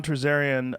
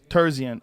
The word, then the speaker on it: Terzian: Did I say his name wrong again? Terzian. I said Terzarian.